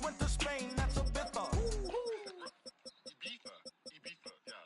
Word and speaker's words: Ibiza: I just went to Spain, that's a Ibiza. Ibiza. Yeah, it's pronounced Ibiza, actually. Yeah.